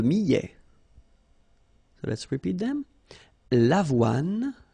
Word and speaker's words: avoine: L'avoine. Remember, don't insist on the final E.